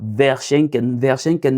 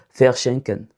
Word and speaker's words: verschenken: On va prononcer ça comme faire comme faire ici. Donc on va dire faire schenen et non veren verschenken est impossible. On dira faire schenken pareil pour W.